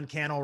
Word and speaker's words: Cannell: YouTube Secrets do that my name is canel rhymes with YouTube channel and I would love